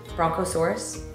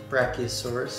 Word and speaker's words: brachiosaurus: my favorite dinosaur is i always feel like i'm saying it wrong bronchosaurus brachiosaurus it's also brachiosaurus it's called the long